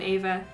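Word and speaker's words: Abha: i'm used to how'd you spell your name ava e father a-b-h-a literally that's not like doesn't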